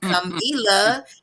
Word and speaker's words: Kamilah: That's how you really spell my name. And Camila is really how you say my name.